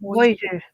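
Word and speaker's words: Bossier: Bozier or Boisier? huh? Bozier Boisier, or Boisier? Boisier, Boisier City, Louisiana.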